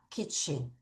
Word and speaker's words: kitchen: kitchen. 철자 주의하셔야 돼요. 써보자. K-I-T, kit. 친. 아까 우리 garden 할 때처럼 en이 이렇게 왔죠? 그래서 얘는 garden, 얘는 ch 발음 다음에 왔으니까 층이 아니라 kitchen, kitchen.